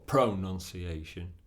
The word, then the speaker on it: pronunciation: second syllable n banana the word pronunciation has pronunciation five syllables where's the stress pronunciation D D D D D on the fourth syllable we can't say pronunciation or pronunciation it's not correct it's pronunciation so when you learn